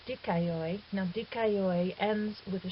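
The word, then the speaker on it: δίκαιοι: Notice too that this word has 3 syllables even though it has 5 vowels. That's because alpha iota is a diphthong, and as I said, omicron iota is a diphthong. So we have the iota and 2 diphthongs, which gives us our 3 syllables, dikaioi.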